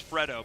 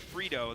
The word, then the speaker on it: Fredo: I'm pretty sure his name is Fredo, but if we say it like Frito, then it sounds like Freelo.